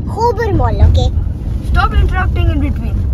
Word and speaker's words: Khobar Mall: we're going to our hobart mall hello you're saying it wrong hobermaul okay stop interrupting in